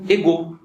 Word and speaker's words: égaux: Só que a palavra iguais, em francês, se pronuncia égaux, né?